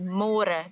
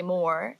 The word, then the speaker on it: môre: It's a little bit easier, but you have to remember to read môre, because in English it's spelled like more. So don't say more, say môre. And the older generations of Afrikaans people, they might say it a little bit differently, and they sometimes say môre, but it's more commonly used as môre.